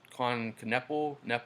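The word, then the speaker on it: Knueppel: So Cooper has him, and then he has Con Knepple. I think the K is silent, and he's 48% I think from three, and he's 6'7", like 220 pounds.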